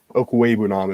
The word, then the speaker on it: Okwuegbunam: But between him, Fant, Albert O, I think, is the Okwuegbunam is how you say his last name.